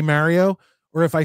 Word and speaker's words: Mario: to get to me it's not Mario it's Mario um actually you know